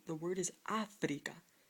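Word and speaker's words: África: So, to let you know that it's Africa, not Africa, like you would naturally say it, you need an accent on the A to let you know it's Africa. How about another word?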